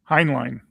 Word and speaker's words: Heinlein: very loosely based on the on the uh on the Highland uh highly how do you pronounce his name? Heinline um book uh of of the same name.